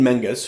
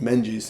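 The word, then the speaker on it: Menges: Constantine Menus who I mistakenly pronounced as Menes in the previous episode literally had written the book on this stuff.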